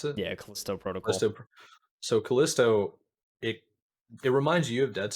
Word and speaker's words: Callisto: Like Callisto, is that how they pronounce it? Yeah, Callisto Protocol. Callisto.